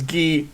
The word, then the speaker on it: Guy: want to point out his name's not guy it's G it's not guy I'm pronouncing it guy okay that I mean for how douchy he is yeah yes yes pronounced properly as ghee he's guy to me